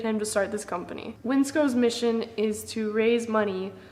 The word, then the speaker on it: WNCSCO: This company right here, it's pronounced Winsco.